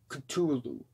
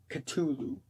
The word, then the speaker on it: Cthulhu: the apple ends off with the Call of Cthulhu Cthulhu yeah Cthulhu you know on the track it's on the track title it's spelled que tu Lu but it's actually spelled